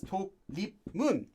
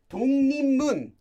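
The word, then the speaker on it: 독립문: the actual sound because this is not pronounced as to lip moon no this is pronounced as tungni mun tung it's completely different you get this sound is how this is read that's due to sound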